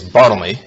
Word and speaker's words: Bartholomew: and judy show it's saint bartholomew's day actually pronounced in those days bottleney saint bottomless day and